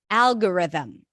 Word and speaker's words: algorithm: we have the word algorithm algorithm as in cat so let's practice it Al Al this is a dark l so it's a little heavier I kind of tense the back of the tongue for it Al R them stresses on the first syllable algorithm algorithm all right